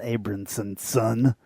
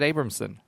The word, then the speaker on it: Abramson: You're adding syllables to people's names at this point. Did you realize that? No. It's not Abramson's son. No, I said Abramson.